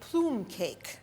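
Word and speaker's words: plumcake: Today we made plume cake. That's how the Italians pronounce it. Plum cake. It's really a pound cake. And we made 2 versions of plume cake.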